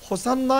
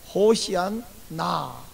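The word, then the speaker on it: הושענא: 번제단을 한 바퀴씩 도는 호산나 행사가 있어요. 호산나는 우리가 이제 이렇게 음력되어 있는 거, 원래 히브리 발음은 호시안나, 제발 구원하소서.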